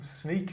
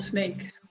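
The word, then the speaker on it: Sneek: that and is home sneak is that where you live uh yes it's called snake snake sorry my pronunciation's dreadful well in my research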